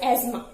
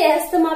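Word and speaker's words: asthma: This condition is known as एस्मा. बहुत लोग इसे एस्थमा भी बोलते हैं, but actually this एस्मा, टी is silent.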